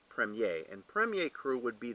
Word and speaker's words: Premier: one called Premier Cru it's actually kind of spelled premier but pronounced Prem yeh and Premier Cru would